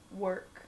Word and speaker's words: work: R mm-hmm so if you work how you pronounce it work work so there is our there or the